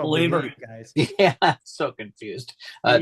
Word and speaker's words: Bleav: That's how you spell Believer, guys. Yeah, I'm so confused. BLEAV. That's how you spell it. That's right. You got to believe. It's leave, like you're leaving.